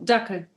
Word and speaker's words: Dackel: dackel.